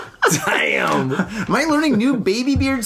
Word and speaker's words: Daim: So I'm sorry in Swedish it's like damn or something like that, right?